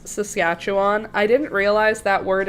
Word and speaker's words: Saskatchewan: I'm always confused because if you just follow the letters, you just sound her out. Sass, cat, chew, on.